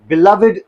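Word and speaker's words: beloved: यूज़ होता है S adjective use होता है बिलवेड सन वहां पर इसकी प्रोनंसिएशन बिलवेड बिलव्ड नहीं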